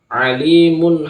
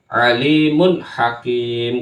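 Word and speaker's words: عليم حكيم: yaitu jelas Alimun Hakim Jangan dibaca alimu atau Alimun salah yang benar adalah Alimun Hakim karena di sini ada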